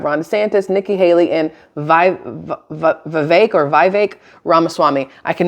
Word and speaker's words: Vivek: santis Nikki Haley and vi v or VI ramaswami I can never say his name right um I just know that it rhymes with cake that's all I remember